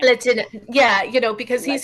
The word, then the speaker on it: Lehtinen: And I'm hearing from the producers it's Lehtinen.